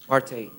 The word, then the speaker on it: Marte: Marty? Yes, sir. Or Marte, how do you say it? Marte. Marte. All right, Mr.